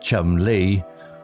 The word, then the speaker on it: Chumley: The inkeeper, whose surname was Chumley, pronounced Chum Lee, offered them a room.